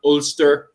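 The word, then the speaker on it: Ulster: Uh, the pronunciation of these, by the way, is if you look at the very north there in the green spot, uh, you have Olster. Then in yellow, we have Conuct.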